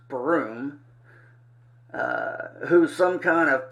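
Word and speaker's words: Bruttenholm: State sign Trevor uh Bruton home pronounced broom uh who's some kind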